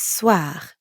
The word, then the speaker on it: soir: The end sound is kind of like saying ah at the dentist. Ah, soir. But soir also ends in R. So we've got that really light gargling in the throat again.